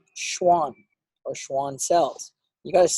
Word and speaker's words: Schwann: down myelin it is produced by something called Schwann or Schwann cells you guys say it like that you got a view full sent on this one you got to go Schwann cells because the Schwann cells themselves produce myelin